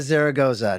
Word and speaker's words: Zaragoza: uh the lady that carries the episode Amara Zaragoza did I get I pronounce it right yes you did okay good